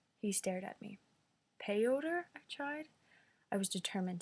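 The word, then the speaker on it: Piotr: at all correctly ha p i ET r its pie eater he winced I read it again no pioter he stared at me pay odor I've tried I was determined to get it right mr.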